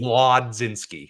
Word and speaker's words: Mlodzinski: No, it's Majinski. Mlodzinski.